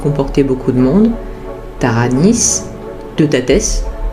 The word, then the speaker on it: Teutates: Il comportait beaucoup de monde, Taranis, Teutates, parce que c'est comme cela que ça se prononce en réalité, Bélénos, Bélissama, Lugh, Epona, Dagda, Esus, etc.